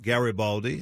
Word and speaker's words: Garibaldi: And Hard G is the last name, so just Garibaldi, as my wife likes to say, it's Gary with an I and Baldi with an I.